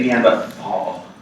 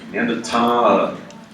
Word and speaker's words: Neanderthal: Just don't say Neanderthal. Don't say that. Neanderthal is the pronunciation.